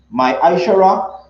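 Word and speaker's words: ma'aser: 3 8 to 10 means 10th in hebrew and is pronounced my ishara 10 of every penny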